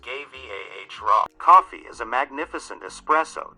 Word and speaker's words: Guevara: chase is right and his last name is pronounced gay vah raw coffee is a magnificent